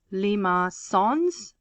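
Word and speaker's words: limaçon: is what we call lima songs this is some french word with this little little accent at the bottom um it's pronounced lima sons and the structure of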